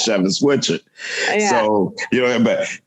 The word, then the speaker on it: Schewitz Whichard: Because when you see my name the first time, you don't think that lineup of letters says Schewitz Whichard.